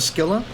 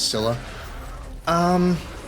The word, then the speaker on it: Scylla: So in hindsight, I like the Scylla, or the Scylla. I think Gaia pronounces it as the Scylla. Not to spoil too much about, our trusty narrator, but the narrator pronounces it as Scylla.